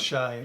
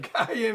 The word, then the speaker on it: cayenne: I said Cheyenne. Cayenne is the best way to pronounce it.